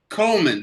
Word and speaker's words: Coleman: val coleman holman or coldman coleman the d is silent my father how how